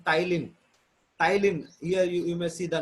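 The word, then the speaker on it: ptyalin: Tylin, here you may see the name. P is silent, Tylin.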